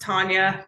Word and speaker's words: Tanya: And now, let's pass it over to Tanya. I hope I pronounced your name right. Hey, it's pronounced Tanya. That's okay. Everybody pronounces it wrong.